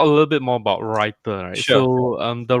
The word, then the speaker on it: Rytr: rhymed like you know writer as in writing yeah so uh you